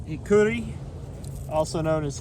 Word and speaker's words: Hikuri: This here is Hikuri, also known as Hickory or Curry.